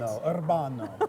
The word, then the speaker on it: Urbano: me about Urbano Cafe do you roll your r on it Urbano I do I don't you don't have to but I do you know me i'